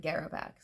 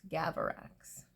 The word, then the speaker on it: Gavarax: It's supposed to be Gavarax, and I'm saying it wrong. Not Garavax, Gavarax.